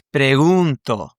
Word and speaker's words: pregunto: Now, and in the present tense, the stress of the verb, the actual emphasis, is actually in the beginning vowels or the beginning syllable. And so in this case, it's actually here on the U, okay?